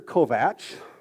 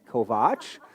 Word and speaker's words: Kovach: upon me and said, "Mr. Kovatch," which is not my name, and after three years at some point, she will learn how to say it correctly. Kovach, I would I'm just